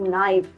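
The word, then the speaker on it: knife: से शुरू होता है हमेशा उसमें जो लेटर के है वो साइलेंट होगा we will pronounce it एज नी we will pronounce it as knock we will pronounce it एज नाइफ नो not NAAC night right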